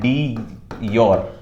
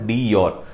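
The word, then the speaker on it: de jure: हैं इनको बोलते हैं डी योर ठीक है डी जर स्पेलिंग में जे यू आ रही है बट जे is silent so इट is called डी योर डी योर head होते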